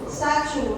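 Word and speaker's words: 山竹: ซันจู๋ ซันจู๋ ซาจู๋ ชู ซาจู ซา ชู นะ คะ แปล ว่า มังคุด นั่น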